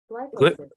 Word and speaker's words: glyphosate: Or is it Glyphosate.